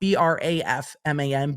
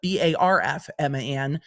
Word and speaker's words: Brafman: And do not think that my dyslexia did not move that R in Brafman so that in my brain it reads not Brafman, but Barfman. So pronouncing it correctly is going to be a win for me today.